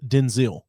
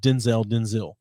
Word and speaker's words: Denzel: It's actually pronounced Denzil. Denzel, like Denzil. Stupid. Instead of Denzel.